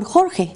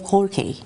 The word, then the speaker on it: Jorge: For instance, in Spanish, we have stronger sounds than the ones that we have in English. It is Jose and not Jose, for instance, or Jorge instead of Jorge.